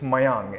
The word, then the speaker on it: Meiyang: not that bad it's uh but they it's mayang and they never get it as mayang they